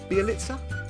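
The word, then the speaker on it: Bjelica: so the first player we are going to look at at number 10 for me is nemanja bialitza be elixir be elixir pronunciation was right so we've already got a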